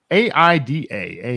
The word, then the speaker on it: AIDA: really appreciate that so a a a i d a Aida that's how I choose to pronounce that uh awareness interest desire